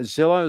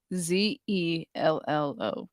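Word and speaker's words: Zello: No, Zillow, Zillo. No. Is that how you spell it? No. No. Zelllo. Zelllo. Like hello, but with a Z.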